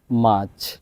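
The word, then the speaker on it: March: জানুয়ারি February F February মার্চ মার্চ কেন মার্চ হলো আর এর পরে কনসোনেন্ট যার কারণে আর এর উচ্চারণ হবে না মার্চ মাচ এপ্রিল এপ্রিল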